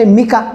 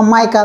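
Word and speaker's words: mica: paper capacitor त्याच्यानंतर next मिका मिका किंवा मायका दोन शब्द प्रोनन्सशन कस करू शकता तुमही तर ते मटेरियल जर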